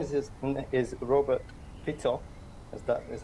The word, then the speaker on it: Fico: So his name is Robert Fico, as that is how you pronounce it.